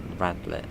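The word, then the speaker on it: Radlett: there we go and there's radlet next well that's actually how you say it radley yeah if i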